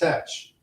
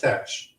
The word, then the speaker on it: Teach: T-E-A-T-C-H in 1718 was not pronounced Thatch. It was pronounced Tetch.